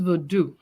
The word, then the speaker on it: Vodun: of vodoon is it vodun and then um can you explain to us what it is it is verdu whether we put a n at the end or not the n is silent just like in oh